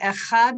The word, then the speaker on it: echad: a relationship with you when we say the word echad we're actually supposed to draw out the second syllable and emphasize the final consonant so if you go into a school where the people are very religious you'll hear them saying and they really prolong it and they really emphasize